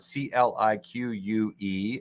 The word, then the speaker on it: clique: It's like saying the word C-L-I-Q-U-E. Officially, the pronunciation is clique.